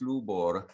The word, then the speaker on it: Lubor: your hand up uh no you did not pro mispronounced uh it's lubor yes uh i have a